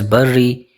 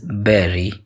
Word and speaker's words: bury: It is commonly mispronounced as buri but its correct pronunciation is bury berry.